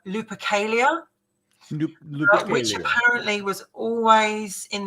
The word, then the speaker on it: Lupercalia: For instance, they feel that the earliest origin of Valentine's Day is the pagan holiday, and let's pronounce this right, Lupercalia.